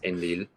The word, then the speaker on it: Enlil: So this sign represents the syllable Ein, this one represents the syllable Lil, and so you read it as Enlil, and that's a name.